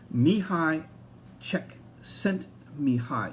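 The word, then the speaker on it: Csikszentmihalyi: really enjoy his quote me hi check sent me hi is how to pronounce his name he's a he's a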